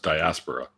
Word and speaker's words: diaspora: And it's pronounced diaspora.